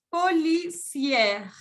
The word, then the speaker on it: policière: Et au féminin, on dit policière. Policière. Cuando agregan una E, en ese caso en femenino se pronuncia la R.